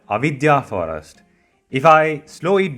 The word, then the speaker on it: Avidya: Avidya is not exactly magic, but something along that line. Again, it's pronounced as Avidya, Avidya Forest.